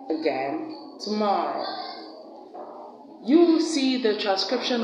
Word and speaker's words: tomorrow: We have that sound at the beginning of the words around, also, again, and at the first syllable of the word today, and the first syllable of the word tomorrow. Tomorrow.